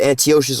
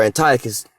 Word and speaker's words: Antiochus: And after that, now this guy's name is either Antiochus or Antiochus, depending on how you want to pronounce this.